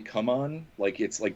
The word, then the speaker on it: CMON: Although apparently now it's actually come on, that's how they pronounce it in their press releases and stuff.